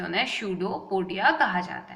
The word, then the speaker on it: pseudopodia: इसका प्रोनाउंसिएशन क्या होता है? स्यूडोपोडिया।